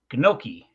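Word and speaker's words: gnocchi: her and ask her can you like sound that out for me and it's G noi so uh said I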